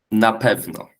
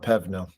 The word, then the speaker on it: na pewno: It's pronounced na pewno. Not Pevno.